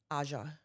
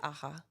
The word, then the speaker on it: Aja: What did I say your name? Aha. Or if you're Spanish, Aha.